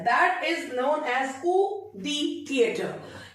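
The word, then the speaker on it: coup de théâtre: That is known as कू दी थिएटर। इसका जो correct pronunciation होता है that's Koo दी थिएटर, कू दी थिएटर।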